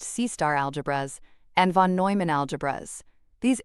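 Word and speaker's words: C*-algebras: The two main stars of this show are C** algebras, pronounced C-star algebras, and von Neumann algebras.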